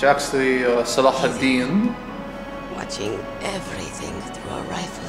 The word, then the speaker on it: Salah ad-Din: Salah ad-Din. My hero. Or Saladin. Saladin. Big boss. He took me away from all that. Saladin? You mean big boss? I became a sniper. It's actually Salah ad-Din.